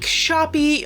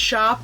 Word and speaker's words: Shoppe: It is the Make Shoppie mosaic suncatcher kit. Now I know it's pronounced shop but whenever I see shop spelled like that I my brain just goes shoppie.